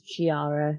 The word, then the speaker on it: Giara: Yeah, you write it with a G, but it's pronounced as Giara, because why not?